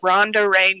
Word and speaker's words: Ronda: no h in Ronda I'm named after my dad my dad was Ron and I'm Ron duh that's my little joke uh all my social